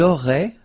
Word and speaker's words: auraient: the two, vous auriez, and then, ils auraient, little link, but then, look, A-I-E-N-T like that, and you only pronounce E, like we had here. It will be exactly the same pronunciation here.